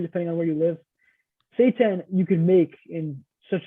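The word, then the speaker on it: seitan: and I wanted to mention when we say Satan it's spelled s eii t an for people listening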